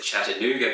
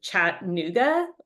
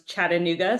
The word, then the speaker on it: Chattanooga: So when we would say Chattanooga, we would pronounce it Chattanooga. I guess the middle A was not pronounced quite correctly. So now I'm very conscious of how people pronounce Chattanooga.